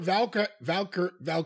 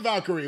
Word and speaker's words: Valkyria: Lyra Valkyria. Yeah. No, I was going to say Valkyrie, but it's not Valkyrie.